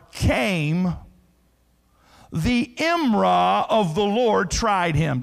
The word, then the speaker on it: imrah: You would spell it D-A-B-A-R, dabar. And the Hebrew word imrah, I-M-R-A-H.